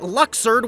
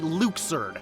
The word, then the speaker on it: Luxord: We accepted that Luxord was the obvious pronunciation. Easy, right? Well, Nomura hates us, so in KH3, they drop a huge bomb, and his name is actually Luxord.